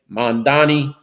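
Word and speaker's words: Mamdani: And Assemblyman Mandami said that Cuomo should learn to pronounce his name, Mandani.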